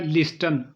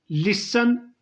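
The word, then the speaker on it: listen: तीसरा लफ्ज़ है लिस्टन, जो अक्सर लोग पढ़ते हैं। लिसन इसकी सही प्रोनाउंसिएशन है। लिसन में टी साइलेंट होता है, लिखा ज़रूर जाएगा लेकिन पढ़ा नहीं जाएगा।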